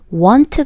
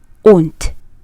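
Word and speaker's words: won't: 말은 온 트입니다 그래서 발음을 유의 하셔야 되요 원츠 가 아니라 온 따라 말해보세요 on 트 on 트 자 그러면 나는 그에게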